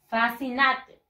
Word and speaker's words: fascinated: The stress syllable, la mayor fuerza de voz está en la fa.